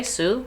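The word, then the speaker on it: Sioux: plight of Native Americans Nationwide I've heard it pronounced Sue yeah that's what I think too is Sue um awesome glad to hear the confirmation thank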